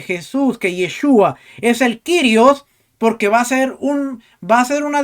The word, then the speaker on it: Kyrios: que le dijo que la pronunciación correcta no es Curios, sino Kyrios.